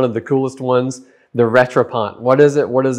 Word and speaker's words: Rattrapante: I think a lot of people, maybe they're afraid of the word because it looks hard to pronounce. It's not. You can do it. Say it with me, Rattrapante.